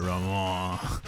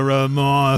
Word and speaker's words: Romand: You just throw that D away and be like, Ramon, the Ramon Affair.